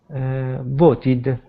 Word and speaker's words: voted: The ed ending added to verbs that end with het or d sound are pronounced as the syllable ed or id.